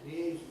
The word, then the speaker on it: liaison: It's the French word liaison, but we of course pronounce it liaison or something like that.